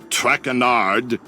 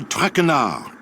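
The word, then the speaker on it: Traquenard: butchered while I eat as for my name not trackin art it is trackin our track Renard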